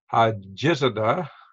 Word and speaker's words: Hajizadeh: too bad, Amir Ali Hajizadeh, I believe day is the way the D-E-H is pronounced in Arabic, correct me if I'm wrong, but he announced that indeed Iran did create the strike.